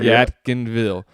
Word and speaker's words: Yadkinville: I can't pronounce that. Yadkinville, right? That's exactly right. Yadkinville.